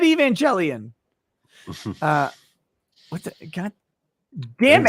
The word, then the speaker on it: Evangelion: four uh andrew haskins says evangelion like televangelist say it right nick i said evangelion uh what the god